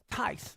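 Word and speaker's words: Thais: this is a lady her name is TI that's her name that's how it's spelled t h a i s see that that's her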